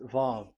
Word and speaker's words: Vav: So it's V as in Vogue. So it's really V. How to read Vogue? So the word, the shape Vav is really pronounced V, like Vogue. That is it, pronunciation. So here in this side, it's pronunciation. This is pronunciation. So according to the old Hebrew word today, those who, the owner of the words, I mean, so it's a V. So don't change it into W, and you will say